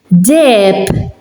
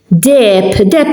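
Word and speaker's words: deheb: Dep. Dep, it's gold in Maltese. And as you can see, here akka is silent. It's in the middle, it's alone, and it's silent.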